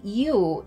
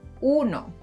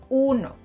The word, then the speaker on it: uno: Notice that I don't say you in uno, one, uno.